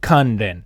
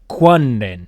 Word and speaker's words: Kanren: The name Kanren, today we would pronounce it Kanren. However, if you look in the olden times, the way they wrote it with the hiragana to help you figure out how to pronounce it, they would have said Ku-wan-ren, Kwanren. Because apparently they did that in the old days.